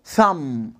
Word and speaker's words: thumb: when the letter m comes before the letter b we don't pronounce the letter a b.